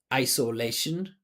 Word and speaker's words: isolation: This word is 4 syllables. So there's 2 that are higher, 2 that are low. There's a primary and secondary stress. So lay is the primary stress, I is the secondary.